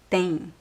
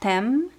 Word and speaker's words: tem: Tem. Again, attention to the pronunciation. It's not tem, it's tem. Tem. Tem. See that I don't touch my lips. Tem. Tem. There's no N sound as well, but if it is